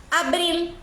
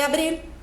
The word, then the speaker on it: abril: primr Fas 2 de Abril Maria vi el 2 de abril olha a pronúncia da palavra Abril não é Abril Abril o l tem que ser pronunciado Então sempre que você